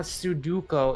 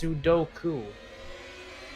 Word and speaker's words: sudoku: the name i didn't know a matter of mispronouncing letters you rearranged the letters in your mind it's not suduko it's sudoku yeah sudoku it's a duck face there's no